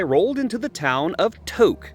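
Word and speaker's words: Tok: Eventually, I rolled into the town of Toque, spelled T O K, but pronounced like the beginning of a bad stoner joke.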